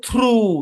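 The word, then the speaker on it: through: ওকে তারপরে খেয়াল করেন টি এইচ তারপর হচ্ছে আর ও ইউ জি এইচ উচ্চারণ কি জি এইচ এর উচ্চারণ এখানে সাইলেন্স কারণ আগে ভাওয়েল আছে আর এই শব্দের উচ্চারণ হচ্ছে থ্রু কি হচ্ছে থ্রু বা এখানে আপনার লম্বা টানবে থ্রু জি এইচ টা সাইলেন্ট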